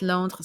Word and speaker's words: Londres: So in French, it's Londres.